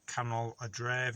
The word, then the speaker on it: canol a dref: I can put this on a screen because you just say it in English and you'll pronounce it properly. C-A-N-O-L, canol, or canol a dref, you might see on signs, which means town centre.